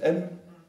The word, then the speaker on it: AIM: C'est AIM, ça se prononce M.